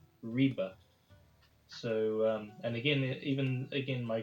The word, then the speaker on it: Ribe: I had been calling this city where we started out on the map Ribe, but actually it is pronounced, I believe, Ribe.